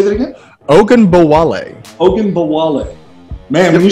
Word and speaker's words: Ogunbowale: I know they just let go of, forgive me, I cannot pronounce his last name. Dare Ogunbowale. Dare Ogunbowale. Say that again? Ogunbowale.